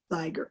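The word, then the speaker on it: Zweigart: It's silk ribbon embroidery on Zyger, I think that's how you say it? Yes, Zyger, yes.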